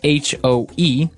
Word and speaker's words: hoe: It's H-O-E, and it's pronounced hoe.